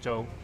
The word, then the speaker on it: zhou: If we're Chinese, I say jook. Jook's the Cantonese pronunciation. Mandarin is zhou.